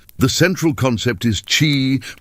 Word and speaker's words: qi: The central concept is chi, pronouncedqi, the vital life force that flows through everything,